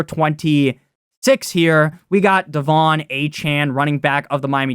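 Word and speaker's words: Achane: him aan sometimes um how do you actually pronounce his name it's supposed to be aan Nick and I know it's supposed to be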